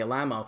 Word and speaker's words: Alamo: Investigating into the background of his life, and one of the reasons why I say Tony Alamo as opposed to the way that he insists on it being pronounced, which is Tony Alamo, is that he was